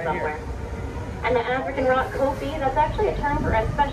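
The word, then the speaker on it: kopje: And we're approaching the African rock kopi. The jay is silent.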